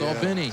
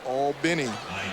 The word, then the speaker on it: Albany: the pronunciation right yes people look at and think it's pronounced like albany new york but it's all benny well when in rome